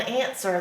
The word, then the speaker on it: answer: remember when you're spelling answer that's that funny W in the center that you can't hear a hmm ER is